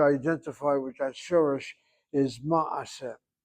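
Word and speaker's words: מעשה: with that shorish is ma'aseh. It's a good word to know, ma'aseh. The Ashkenazim who speak Yiddish say Maisa. The proper Hebrew is Ma'aseh.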